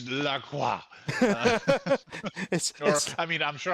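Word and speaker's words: La Croix: People usually say Lacroy because that's how it's written, but my nephew who speaks French always is like, "No, no, no. It's Laqua."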